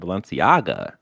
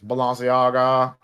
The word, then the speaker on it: Balenciaga: Prices for Fortnite's collaboration with fashion brand Balenciaga will make your eyes... You're saying it wrong. It's Balenciaga.